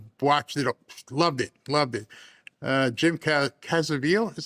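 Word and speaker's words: Caviezel: Jim Cazaville is how you say his name.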